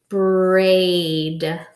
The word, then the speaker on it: braid: the base word first a I so we know that's a Valentin so the a is long in the eyes silent braid braid well if I